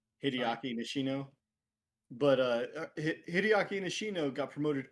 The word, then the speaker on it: Hideaki Nishino: Herman Holst is the one step below the CEO of Hideki Nishino. I know I mess up pronouncing his name too. It's fine. Hideaki Nishino.